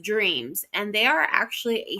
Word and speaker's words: DRMZ: in San Diego called DRMZ, pronounced Dreams, and they are actually